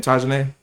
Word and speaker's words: Tajane: How you say her name? Tajane? Yes.